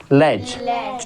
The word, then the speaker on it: latch: या CH आए तो हमारा क्या होगा, टी साइलेंट हो जाएगा। फिर इस तरीके से CH आ जाएगा, LATCH क्या होगा, लैच, ठीक है।